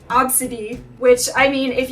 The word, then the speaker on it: Abcde: are over 300 children named AB bcde e the first five letters of the alphabet pronounced obsid which I I mean